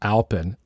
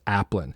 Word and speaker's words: Aplin: to us uh starting the recording uh I pronounced it wrong and I said alpen and uh reminded me this appan so if you look at his name um